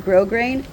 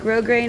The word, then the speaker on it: grosgrain: So, I'm just going to get a piece of grosgrain to to put through it. And grosgrain is spelled g r o s g r a i n. We don't pronounce the s.